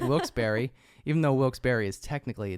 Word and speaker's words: Wilkes-Barre: know Wilkes Barry is spelled b-a-r-r-e and it's pronounced Berry so I just figured